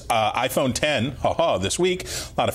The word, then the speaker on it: iPhone X: I like that it's the iPhone X, but it's the iPhone 10 is how we're supposed to pronounce it.